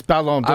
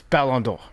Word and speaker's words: Ballon d'Or: I mean, I'll tell you right now, correctly, but it's Ballon d'Or.